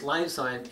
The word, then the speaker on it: Liyfzyme: to consider adding Lifezyme to your meals, because Lifezyme, it means, it's spelled L-I-Y-F, Lifezyme, and that means life in your food.